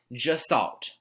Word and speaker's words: Gestalt: are now dissolved psychology and it's pronounced just salt like just salt but just salt all right gestalt psychology